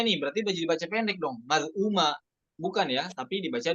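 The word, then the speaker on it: مَذْءُومًا: Nah, perhatikan pada hamzah yang berharokat dhammahnya itu ya, maz'uma. Nah, setelah hamzahnya ada huruf waw, maka hukumnya jadi mad badal, maz'uma.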